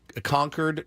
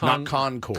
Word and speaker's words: Concord: it's Tempe Tempe yep Tempe conquered is conquered New Hampshire is conquered not Concord Concord grapes but conquered yeah like they were defeated they're completely conquered conquered we got a uh